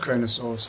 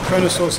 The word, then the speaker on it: Kronosaurus: extinct more advanced predicates chronosaurus is an easy name to say it has four syllables chronosaurus check out all